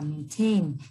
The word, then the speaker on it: maintain: Chúng ta chú ý cho cô ở đây A, chúng ta đọc là maintain, cho âm rơi vào âm tiết thứ hai, và marine, cho âm